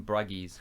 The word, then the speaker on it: Bruges: have you seen in Bruges yes with what's-his-name Colin Pharrell Williams Gleeson yes although it's pronounced the in Bragg ease alright hello and welcome